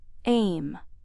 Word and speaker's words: EMM: Further details can be found in my book titled e m pronounced in short as aim.